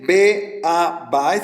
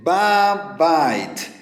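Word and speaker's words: בַּבַּיִת: No se dice be a bait, sino se dice ba bait.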